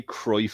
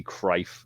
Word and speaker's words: Cruijff: We say Cruyff, and it's actually Cruyff, I believe. Right, yeah. There you go. Yeah. But Jamie says, look. Like it would be Cruyff. Yeah, it's Cruijff. Cruyyff. Gotcha. Pronounce C. Yeah, gotcha. All right, gotcha. But yeah, you don't pronounce the U.